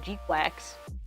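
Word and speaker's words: GQuuuuuuX: Um but it's pronounced like Gquax.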